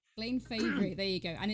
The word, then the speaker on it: Fabry: favorite i'm so sorry i've been pronouncing your name wrong all these guys everybody says my name plain favorite there you go and it's with two